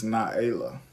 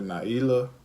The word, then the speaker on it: Naela: And the name is Naela, or people say Naila, Nahela. Mm-hmm. You know, you can say either way, but we pronounce it Naela.